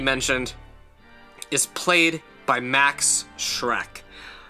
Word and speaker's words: Schreck: Of course, Dracula, I had already mentioned, is played by Max Schreck. Not Shrek from the illustrious film series of the early 2000s, but Shrek. It's spelled slightly differently.